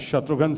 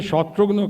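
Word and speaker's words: शत्रुघ्न: से शुरू होती है अलग-अलग भाषा के लोग अलग-अलग प्रांत के लोग अलग-अलग तरह से मेरे नाम का उच्चारण करते हैं प्रोनंसिएशन मिसाल के तौर पंजाबी मेरे फ्रेंड्स हैं वो आज भी कहते की हाल शत्रु गां जीी जैसे पहाड़गंज दरियागंज बंगाली फ्रेंड्स बोलते किरे शत्रुगन कमन आशीष शत्रुगन डॉक्टर नो का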